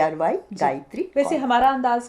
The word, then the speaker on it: Gaitry: देखो बिल्कुल आप तो अच्छा सुझाव आपने दिए तो मेरा नाम सिर्फ उसमें डालना होगा जो मैं स्पेलिंग लिखती हूं जी ए आई टी आर वाई गायत्री वैसे हमारा अंदाज का भी जो चैनल है